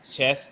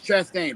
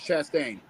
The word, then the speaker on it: Chastain: Also over uh over in NASCAR uh Chest. Uh I know I know I butchered his name. Ross. Yeah. Ross Chastain. Ross Chastain.